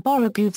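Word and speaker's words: borogoves: rhyme with Groves again the first o in borrow goes is pronounced like the O and borrow I have heard people try to give it the sound of the O and worry such as human perversity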